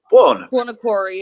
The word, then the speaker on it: Buonocore: Buonocore.